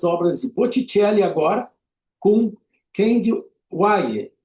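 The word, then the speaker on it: Kehinde Wiley: de Botitelli agora com Candy Wer, que é assim que pronuncia o nome desse artista negro americano, ele afro-americano, nascido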